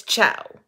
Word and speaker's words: Chao: I finally got to figure out how to say her last name it's CIA not the same as my dentist's last name but um and I